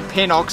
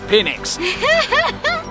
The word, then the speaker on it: Pinnix: Don't say Pinox, it's Pinnix.